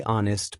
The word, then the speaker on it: honest: Or why we say honest, but the H stays silent?